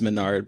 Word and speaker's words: Mesnard: My last name is Menard, but it's spelled Mesnard, and however many permutations of that you can imagine is.